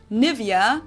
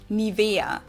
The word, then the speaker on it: Nivea: pronunciation pretty funny here English native speakers usually say Nivea Nivea in German we say niaa so the emphasis is on the EA this is a German